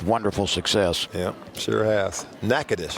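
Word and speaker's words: Natchitoches: success yeah sure has nakadis that's how you say it huh t-o-c-h-e-s got it by the way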